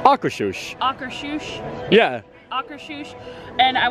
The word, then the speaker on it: Akershus: I am very excited to try some Norwegian-style food at Akershus, which I'm not even sure if I was pronouncing the name of the restaurant right, but